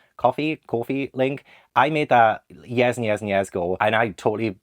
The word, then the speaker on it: Ko-fi: Like I didn't even mention my, I think it's pronounced coffee link.